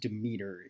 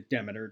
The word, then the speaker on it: Demeter: a derelict vessel called the is demeter it's pronounced demeter in this but i believe demeter is the correct pronunciation collides with the station